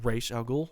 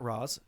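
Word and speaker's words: Ra's: which by the way that's how you say it's racial not roz it's it's it's the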